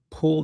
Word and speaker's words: Pul: Pool, that's spelled Pul.